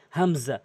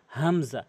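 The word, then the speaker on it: همزة: আলিফ আলিফ আলিফ এরপরে হামজা হল শুরু থেকে হামজা হামজা হামজা বলা যাবে না হামজা এভাবে বলবেন হামজা এরপরে হা এবং হা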